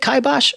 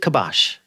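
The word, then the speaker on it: kibosh: listeners out there um is it kibos or is it kabash because the ongoing argument I've had with several of my friends is it's kabash because that's the way a lot of Americans say I've always said kibos always I'm with you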